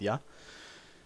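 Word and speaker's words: 屋: put something before ya this second syllable is pronoun or the second kanji can be pronounced ya and it's generally a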